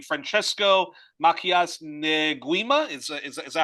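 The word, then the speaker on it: Francisco Macías Nguema: Franchesco Makias Neuima is is that how you say it?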